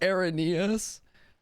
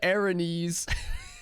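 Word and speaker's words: Araneus: That's pronounced Areneus. I've said Arenes forever.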